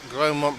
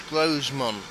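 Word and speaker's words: Grosmont: It's Grosemont. I thought it was Gromont, but the S was silent.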